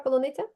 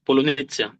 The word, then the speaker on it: полуниця: Скажи, de hecho, dime, ¿puedes pronunciar esa palabra полуниця? fresas o frutillas. Так, так. Полуниця. Скажи Україні. А ну ще раз. Fresas o frutillas. Polonezia.